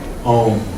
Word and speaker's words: Om: Entonces, cuando A y U se combinan, se produce el sonido O. No es O, no es AU, es O. Om.